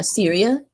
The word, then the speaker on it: Syria: Yeah, Syria. I know in Arabic it's pronounced as Surya, but I guess Americans say Syria.